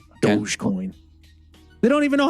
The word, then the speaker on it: Dogecoin: okay isn't it it shouldn't it be uh like doggy coin no it's not how that should be pronounced isn't the logo a dog even it is yeah yeah it should be doggy coin dogecoin they don't even know